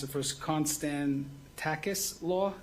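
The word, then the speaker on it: Konstantakis: We'll pronounce it first. Constan Takis Law.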